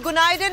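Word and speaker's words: Günaydın: तो गुनाइडन is good morning. So गुनाइडन everyone, गुनाइडन। The pronunciation is okay, गुनाइडन, या okay जी।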